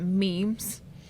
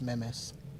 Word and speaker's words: memes: So we tried to add we tried to add memes. Try to speak to the kids in their own language. Excuse me, it's pronounced memes. Memes. or as Stephen A. Smith says, memes.